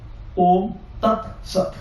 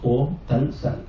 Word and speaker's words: Om Tat Sat: In Kerala, they will pronounce T as L. It is not correct as per the Paniniya grammar. For example, Om Tat Sat. The Orthodox Malayali scholars, they will pronounce Om Tal Sal.